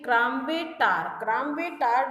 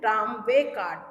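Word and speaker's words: tramway car: ये क्रामवे टार जो है बच्चों, ये जो मडल हेड है जो कि बहुत कंफ्यूज रहता है, वो रॉन्ग प्रोनाउंसिएशन कर रहा है। एक्चुअली इसका सही प्रोनाउंसिएशन है ट्रामवे कार।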